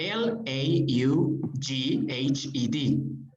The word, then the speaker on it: laughed: ah loft okay in this case we have l a u g h e d that one right okay it is pronounced laughs okay love the g with the